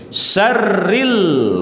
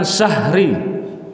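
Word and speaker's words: شَرِّ: Ilahin nas min syarril waswasil khannas. Syarri bukan syahri. Ada juga kadang kita dengar beberapa masyarakat bacanya min syahril waswasil khannas. Bukan, tapi min syarri.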